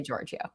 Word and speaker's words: Georgiou: Yeah, well, in in America, my my siblings in Greece tell me I pronounce it wrong all the time, but here I say Georgiou.